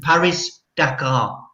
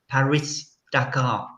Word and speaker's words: Paris-Dakar: You need that pronunciation. Paris-Dakar. Paris-Dakar.